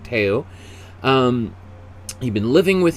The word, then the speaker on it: Theo: teo or theo but spelt theo but in in dutch i think it's pronounced teo um you've been living